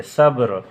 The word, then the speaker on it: صبر: ہیں، حالانکہ ہے غلطی۔ صبر، ہم اس کو صبر بولتے ہیں، با پر ہم زبر پڑھتے ہیں، یہ غلط ہے، صبر۔ عصر، ہم عصر بولتے